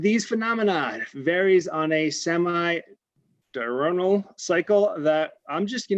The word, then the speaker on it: semi-diurnal: Pansky, please pronounce that word correctly because I know I butchered it. Okay, it's semi-diurnal.